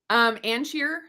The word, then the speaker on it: Ancheer: So it's AN and then just cheer.